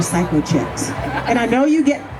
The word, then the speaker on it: Cykochik: is it called psychoi well it's spelled c y k o c h i k so it's not Psy you know psycho maybe a little bit but I'm